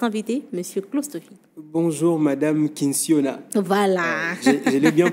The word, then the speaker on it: Kinsiona: bonjour à notre invité monsieur clofi bonjour madame kinsiona voilà je l'ai bien prononcé oui vous vous avez bien prononcé merci